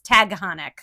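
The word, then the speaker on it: Taghkanic: of Takonic and Tagahanic. Tag realized it's spelled totally differently. It's T A G H K A N I something like that. Yeah. Yeah. It's Tagonic.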